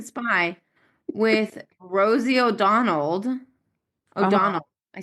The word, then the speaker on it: O'Donnell: O'Donnell. I said her last name wrong. Oh, McDonald.